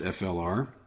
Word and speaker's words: Fluor: Fluor Corporation, I suppose it's pronounced FLR.